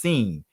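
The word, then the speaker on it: שׂ: left it'll make us it'll be pronounced seen if it was to the right it'll be sheen you don't have to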